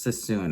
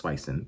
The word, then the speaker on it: Suisun: I know I kept saying it wrong. I think it's Sassoon. It's spelled Suisun. And I always thought it was Swison, but I feel like when I said that, they were like, you mean Sassoon?